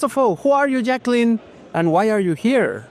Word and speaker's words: Jaclyn: So the amiga Jaclyn, am I pronouncing well?